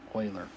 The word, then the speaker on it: Euler: actually defined by a limit that's how you pronounce this euler so this limit can be calculated by choosing